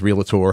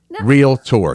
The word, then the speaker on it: realtor: want to say it it's not real tur no it is real T I'm sorry not real no it is real Tor two syllables realtor realtor not realtor that's what yes yeah